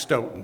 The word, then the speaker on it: Stoughton: in Stoughton Massachusetts and it's pronounced Stoughton by the landing we're